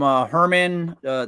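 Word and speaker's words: Germán: I had to get rid of one guy from Herman. Spelled German but pronounced whatever.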